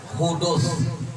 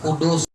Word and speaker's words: hudus: Kalau nah ini kita mustahilnya hudus, hudus. Jangan kudus.